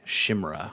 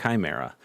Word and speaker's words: Chimera: I always used to say Shimra when I saw this cuz you know that's that's what it looked like to me. Uh but it is pronounced Chimera.